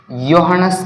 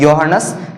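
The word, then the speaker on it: Johannes: में हमको किसने बताया यो हनस केपलर योन केपलर ओके ये जो इसको स्पेलिंग इसके जे से शुरू हो रही है मगर उसको क्या पढ़ना है यो हनस केपलर तो इस योहानेस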